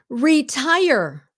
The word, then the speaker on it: retire: Retire. Oh, I can't tell you how many Vietnamese say this wrong. Retire. Please say the whole word.